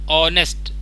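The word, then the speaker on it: honest: ठीक है, तो ऑनेस्ट, ऑनेस्ट में कैसे करेंगे, ऑनेस्ट, H को छोड़ दीजिए तो साइलेंट है आपका।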